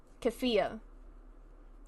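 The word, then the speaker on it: keffiyeh: you pronounce it, because I don't want to mispronounce it. It's a kafaya? Kafaya? Kafia? Kafia.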